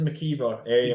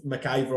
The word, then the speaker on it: McKeever: So been confirmed it is McKeever. I said McIver on commentary initially, and I seen on